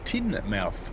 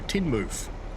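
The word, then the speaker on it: Teignmouth: It's pronounced tin mouth, but you say mouth as mofoof. So, Tinmouth.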